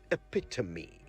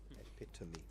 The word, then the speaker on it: epitome: something much less complex it sounds just as it is belt epitome and that's how you say it right yeah it's not the epitome of anything epic to me okay all right shall